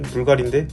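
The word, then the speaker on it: BVLGARI: 발음은 불가리인데 스펠링만 보면 빌가리, 부불가리, 뭔가 좀 이상한데, 이게 소티리우스 불가리가 세상을 떠나고 브랜드명을 바꾸면서 이렇게 된 건데요.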